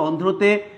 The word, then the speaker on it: অন্ধ্র: রফলার উচ্চারণটা ঠিক থাকবে, তাকে বিলুপ্ত করার বা বাদ দেওয়ার কোনো সুযোগ নাই। আবার এই আগে যেই বর্ণটার সাথে রফলা যুক্ত থাকবে সেই বর্ণেরও দ্বিতীয় উচ্চারণ করবার কোনো স্কোপ আমাদের নাই।